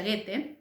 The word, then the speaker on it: Goethe: tiene un autor alemán que el nombre se pronuncia goethe usted lo tienen escrito y en el powerpoint